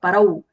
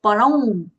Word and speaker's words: param: It would be, if you just don't take the nasal va sound, it will sound like parau. It is not parau, it is param. You have to use the nasal twang there.